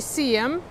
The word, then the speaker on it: Seaham: Находится он в городе Сиэм, пишется Сихам. Буква «Х» не читается часто в названиях английских городов и мест.